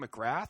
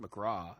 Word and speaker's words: McGrath: she pronounced someone's name McGrath because it was spelled like that, and they were like, "Oh no, it's pronounced McGraw," and I was like, "Wait, no, The unacceptable." TH is silent.